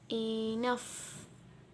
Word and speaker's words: enough: G and H pronounce the sound of F. Cuff. Enough. Laugh. Rough. Tough. At the end of the sound, it pronounces the sound of rough and tough, not G.